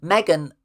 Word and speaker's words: M3GAN: Megan where it's spelled with a three. It's like instead of an E, there's a three where the E should be.